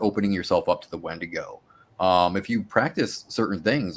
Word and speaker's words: Wendigo: Is with the wendigo or the wedigo, as it's pronounced by the Algonquin people or the Cree.